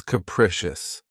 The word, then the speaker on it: capricious: The next adjective, which is one of my favorites, is capricious. This word has 3 syllables, and the stress is on the second syllable. Keep in mind that the first syllable has that schwa sound. Capricious, capricious.